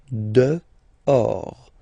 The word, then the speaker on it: dehors: Okay, so remember final S not pronounced, and then this H in French doesn't exist phonetically, so you don't pronounce it. Dehors.